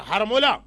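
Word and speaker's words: حرملہ: हारमोला, इसका सही प्रोनाउंसिएशन हा पे जबर के साथ है, हारमोला।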